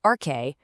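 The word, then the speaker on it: ἀρχή: It's this Greek word, pronounced arche, for the one, single, fundamental stuff that everything else in the universe comes from.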